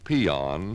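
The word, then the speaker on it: paean: dictionary you will find a word pronounced peon spelled p-a-e-a-n it means to praise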